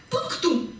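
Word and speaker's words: Punktum: но когда диктовка кончается Оказывается это слово произносится как пунктум и означает точка вошедшая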